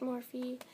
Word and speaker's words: Morphe: from morphe and yes it's pronounced morphy so you're going to